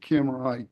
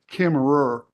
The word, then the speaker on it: Kemmerer: Okay, and do you know about the Kimmerite Wyoming, excuse me, correction, Kimmerer for you, ma'am, for the record, it is spelled Kemmerer.